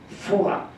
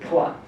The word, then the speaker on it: Phowa: He took one term from Tibetan Mikyo, from Tibetan secret esoteric Buddhism, which is called Phowa in Tibetan, and in Japanese they pronounce it Poa.